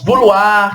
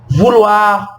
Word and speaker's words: vouloir: Por exemplo, os verbos terminados em OIR, que a gente vai falar UAR, tá vendo? Então os verbos que terminar em OIR em francês, mas a gente vai pronunciar OIR como UAR, são os verbos vouloir,